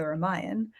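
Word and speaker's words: Ramayana: of their names where they have an A but you don't always say it but my understanding is you say the ramayan that's how you pronounce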